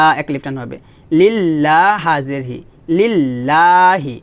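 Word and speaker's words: لِلّٰهِ: হবে লিল্লাহ হাজেরহি লিল্লাহি এখানে লা হবে ল হবে না হবে লা কারণ লফজের লামের ডানে কি আসছে জের আসছে আমরা জানি যে লফজ জালের লামের ডানে যদি জবর কিংবা পেশ আসে তাহলে মোটা হয় আর লামের ডানে জের আসলে লামটা পাতলা হবে তাহলে এখানে হবে লা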